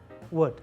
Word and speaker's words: would: pronunciation wood is pronounced completely like the wood would would they all is silent wood would not world something like that